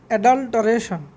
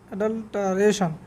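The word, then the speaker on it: adulteration: অ্যাডাল্টারেশন অ্যাডাল্ট্রেশন অ্যাডাল্ট্রেশন অ্যাডাল্টারেশন অ্যাডাল্টারেশন। দেখুন এর অ্যাডাল্টারেশন মানে ভেজাল দেওয়া আর কি, কোনো কিছুর সাথে ভেজাল। অ্যাডাল্ট্রে নয়, অ্যাডাল্টা এরকম উচ্চারণ হবে, অ্যাডাল্টা।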